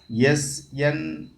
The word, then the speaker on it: SNPs: Pronounce there SNIPS. SNPs. SNIPS. Pronounce. அதாவது expansion. SNPS. SNPS. Single nucleotide polymorphisms. Pronounce as SNIPS.